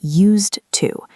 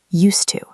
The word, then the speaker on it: used to: We do not say used to. We push the words together. Listen closely to the sound. Used to. Used to. It sounds like a soft s or a z sound blending into the t.